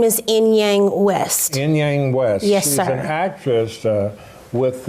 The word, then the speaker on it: Inyang: for short yes my last name is enyang west yang west yes with uh the channeler